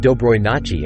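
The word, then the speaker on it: Доброй ночи: said Dobroj nochi el, which is pronounced Dobroy nochi and means good night.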